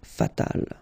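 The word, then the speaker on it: fatale: And then fatal, feminine form, you just add this final but then phonetically it's the same, fatal.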